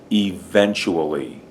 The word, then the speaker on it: eventually: e eventual Le event the accents on that second syllable event this is kind of a CH sound CH wool between here and here it sounds like chew it's almost a almost W sound and then this is